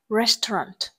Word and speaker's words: restaurant: C, restaurant. Restaurant, từ này có trọng âm rơi vào âm tiết thứ nhất.